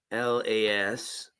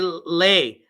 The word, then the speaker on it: lascivious: LASCIVIOUS. There we go. Lascivious. Oh man, I was way off. Lascivious. Yeah, I was trying to say lay.